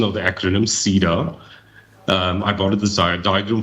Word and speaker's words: CEDAR: and I understand now that is the correct pronunciation of the acronym Cedar I got a desired diagram from the concept